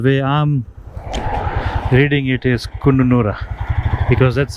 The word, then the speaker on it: Kununurra: I think everyone was saying Kununurra. The way I'm reading it is Kununurra, because that's how it is spelled.